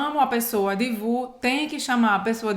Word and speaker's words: vous: Vous é como se fosse só um VU.